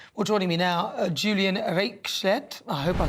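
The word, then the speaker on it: Reichelt: How do you say your name? Because that it's Reichert, but it's hopeless to pronounce for any English speaker.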